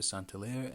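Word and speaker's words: Saint-Hilaire: late uh 1800s and his name was August de santiller or August de santeler in an English language pronunciation and he conducted a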